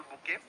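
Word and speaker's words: bouquet: two correct answer কিন্তু spelling two বি ও ইউ কিউ ইউ ই ডি বুকে বলি উচ্চারণ করা হয় প্রোনাউন্সিয়েশন টু হল বুকে এ বুকে ফ্লাওয়ারস তার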